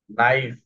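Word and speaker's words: knife: তারপরে দেখো এখানে নাইফ। নাইফ। এই খেইটা সাইলেন্ট হয়ে গেছে। এই লাস্টে কি আছে?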